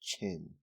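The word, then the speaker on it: 辰: Dragon is associated with the Earthly Branch symbol pronounced chin it has been proposed by one academic researcher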